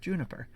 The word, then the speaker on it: JNPR: this and then found out of course it's pronounced juniper so uh me personally